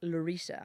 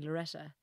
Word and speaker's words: Larissa: what and but like people can't pronounce it they just call me loretta and it's a pure irish thing you know they just they never heard the name larissa before so they just bash